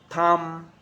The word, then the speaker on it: thumb: all the silent point it follows the letter m climb come lamb thumb thumb so practice them with me i am not pronouncing the b i am just pronouncing the m consonant sound prime come lamb come